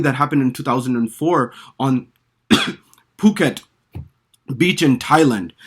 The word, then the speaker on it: Phuket: Now, in Thai, by the way, H is after a P is silent. So they don't use the F, PH as we do. They use P and H is silent.